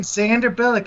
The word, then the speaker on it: Xander Billick: Xander Billick. It rhymes with Sandra Bullock.